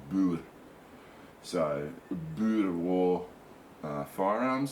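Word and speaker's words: Boer: bull war era firearms the proper pronunciation is bud and um because i've known quite a few south african people and you know they will correct you and say it's not bore it's bull so buddha war uh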